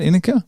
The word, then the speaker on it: Inicka: Inicka?